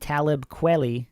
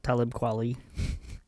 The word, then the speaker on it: Talib Kweli: many rappers such as Nas, Eminem, Game, and Talib Kweli. Is that how you pronounce it? Yeah, it's close. Talib Kweli.